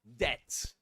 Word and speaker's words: debt: Well, to cut a long story short, this is debt. Debt. You don't pronounce the B. The B is silent. You ignore it. You say debt. Only debt.